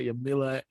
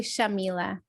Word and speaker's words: Yamila: We got Yamila and we got McDonough Scanlon. Is did I say that correct? Yeah. Okay. No mispronunciation. How is everybody doing? It's actually Shamila, but Shamila.